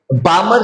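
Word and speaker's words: Balmer: बामर सी बामर एल वो silent रहेगी यहां पे। ये आपको ध्यान में रखनी है।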